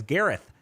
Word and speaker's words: Gareth: Who's named Gareth? Yeah, no, you were right. It's TH. Yeah. Oh, it's Garrett. A tricky one.